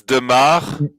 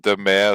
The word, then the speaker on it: de Maere: I mean, it's Demar. That's De how it's Maere. pronounced in Belgium, at least. But whenever I'm in France or Germany and so on, like people used to pronounce it Demer.